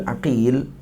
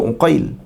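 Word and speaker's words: عقيل: Qauluhu Ibnu Aqil ka dalil, aqil dalil. Cara baca dia. Yang baca Uqail, baca Aqil.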